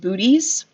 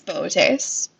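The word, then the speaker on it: Boötes: constellation of Leo chase looks like it should be pronounced booties but it's boat ace and it's this kind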